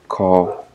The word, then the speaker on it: colonel: Ex-colonel, so when we pronounce the word colonel, we don't have to pronounce the word, or the L, I mean.